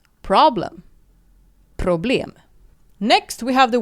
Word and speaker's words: problem: And it is spelled exactly identical as the English word for problem, but in Sweden we pronounce it this way: problem. Problem.